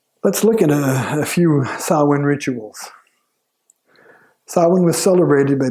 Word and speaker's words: Samhain: And that is how you pronounce that word there, Samhain.